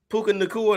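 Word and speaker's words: Puka Nacua: him the dude from the Rams uh Puka Puka Thea that's how you say it yeah he got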